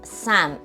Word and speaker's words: sam: The partner of yah is Sam. It sounds like am in English.